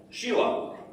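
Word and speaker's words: Síle: Oh, Sheila.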